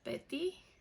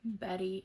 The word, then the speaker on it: Bethy: um, it's actually pronounced Betty. That's how you correctly pronounce my name. I think Betty, it's easier to pronounce for everybody. And I know I spell my name Bethy, but that's just because I'm unique.